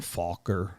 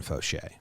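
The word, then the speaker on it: Faucher: the uh raised through a guy named Calvin Falker okay oh it's not Calvin it's Calvin Foshay okay Calvin the second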